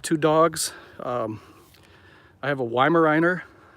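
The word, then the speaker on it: Weimaraner: dogs i have a weimariner i actually i think it's pronounced vimeriner because that's a german breed but uh yeah she's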